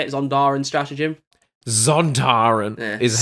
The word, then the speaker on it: Sontaran: Zontaran is how I pronounce Sontaran. Sontaran.